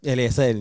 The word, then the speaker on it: Eliezel: Now, don't kill me on the pronunciation. Eliezel. Eliezel, yeah.